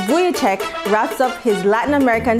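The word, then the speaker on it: Vujicic: Worldrenowned speaker Nick Vich Vichek, pronounced Buyek, wraps up his Latin American tour right here at home.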